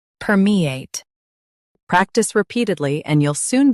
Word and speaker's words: permeate: Her, me, ate, permeate.